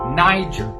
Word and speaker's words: Niger: hard R sound and do not use the G in the sound like a g in fact we pronounced it more like a j so when you put it together it sounds like Niger what you about to